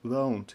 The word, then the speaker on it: won't: Won't, won't, читается не won't, да, а oh, won't, you won't fail.